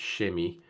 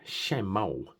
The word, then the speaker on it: chamois: Now this is a natural shem leather and that's how I pronounce it. So it's shemi but it looks like it's shemmo.